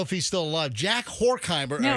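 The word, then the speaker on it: Horkheimer: Horheimer. Horheim. Yeah. Hor. Hor. Yeah, you're right. Yeah. Rhymes with dork.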